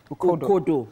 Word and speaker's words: Ukodo: Ukodo. Okay, yeah. So yeah, my director is telling me right now that it's pronounced as Ukodo.